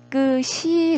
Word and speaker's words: 깨끗이: 들면 깨끗이 보겠습니다 자 깨끗이 같은 경우는 어깨 깨끗이 로만 발음을 한다는 거예요 어 그래서 1호 만나죠 왜냐하면 요시 의 시 일로 이동해서 깨끗이 로 발음이 나기 때문에 그렇습니다 4 만약 이익의 히로 나려면 깨끗해 이 이렇게 발음이 되어야 되는데 그렇게 는 발음이 나지 않는다는 거죠 근데 어떤 학생 우